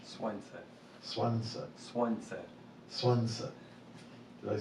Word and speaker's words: Słońce: The sun has different, how do you say the sun in Polish? Słońce.